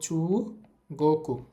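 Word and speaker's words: 中国: Thailand এরপরে হচ্ছে চু এই উটা উচ্চারণ হবে না কারণ আগে একটা উ আছে চু গোকু চু গোকু অর্থ হচ্ছে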